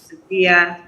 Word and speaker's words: Sophia: The correct pronunciation is Sophia.